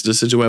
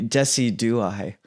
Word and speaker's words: Decidueye: Yeah, I don't know how much play this Decidueye would see, but it's cool.